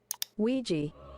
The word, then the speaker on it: Ouija: It may seem unrelated, but I've asked a data analytics expert to give us the proper pronunciation of this word. Ouija.